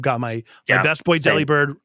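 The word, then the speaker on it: Delibird: Uh, is that supposed to be the proper supposedly because it's like delivered because he delivers presents delivered and I don't like it.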